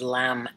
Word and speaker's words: Lam: And that sound is Lam, L-A-M.